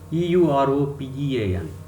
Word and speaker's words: European: Last example, EUROPEAN. This is European. Here European. Here the beginning letter E is not giving any sound, it is silent. So the next letter U is giving Ya sound.